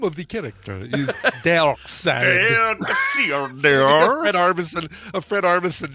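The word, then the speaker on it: Darkseid: does here his name you can pretty much forget about the strange spelling of it it's simply dark side so it is dark side not dark all right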